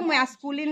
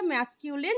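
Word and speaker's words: masculine: বলা হয় ম্যাসকিউলিন gender কেউ ম্যাসকুলিন বলে কেউ ম্যাসকিউলিন বলে কিন্তু আসল উচ্চারণ হচ্ছে ম্যাসকিউলিন জেন্ডার এটা আরেকবার বলে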